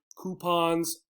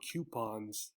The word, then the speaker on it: coupons: see what they say do they say coupons or coupons here's something you might